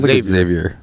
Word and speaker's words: Xavier: It might be Xavier, but I mean, he said Xavier. Xavier. Because Xavier would be... What? Yeah, Xavier is like the French.